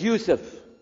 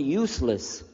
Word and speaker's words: Yousef: Shah my name is Yousef can you say Yousef you say Yousef you're very good I wish you teach my wife she keeps mispronouncing it she calls me useless alhamdulillah now how many